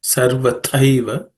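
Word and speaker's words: सर्वथैव: The second word, sarvathaiva, the thai is made from the second consonant of the varga or third class of consonant, so it has to be aspirated. Thaiva, okay, tathaiva, sarvathaiva, okay, tyajyah.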